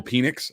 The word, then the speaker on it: Penix: uh and then from that team uh michael penix i know it is pronounced panics but i just can't it's penix phoenix is